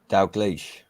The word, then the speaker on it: Dalglish: Dalglish.